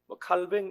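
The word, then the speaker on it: Calvin: 한번쯤 들어보셨을 것 같아요 존 칼빈이라고 프랑스 인물인데 칼뱅 이렇게 발음하기도 합니다이 사람은 루터의 종교개혁을 완성시킨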